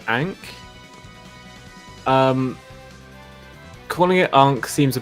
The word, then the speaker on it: Ankh: I've heard it pronounced both ways. Is it Ankh or Onk? Like so Onk. I call it Ankh.